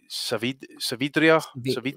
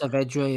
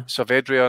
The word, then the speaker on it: Saavedra: Savidria, yeah, I think his name is. Saavedra, yeah. Saavedra, and that.